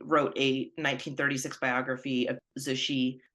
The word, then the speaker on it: Cixi: He was an Italian diplomat, and he wrote a 1936 biography of Cixi called The Last Empress.